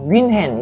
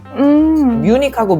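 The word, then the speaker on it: München: 느낌도 있는데 우리말로 외국어를 할 때 예를 들어서 뮌헨 있잖아요 독일의 도시 이거 원어 발음에 더 가까워요 wintion인데 우리는 뮌헨이라고 하고 영어로는 뮤닉이거든요 뮤닉하고 뮌헨은 완전 다르잖아요 그러니까 그런 발음들이 다 워너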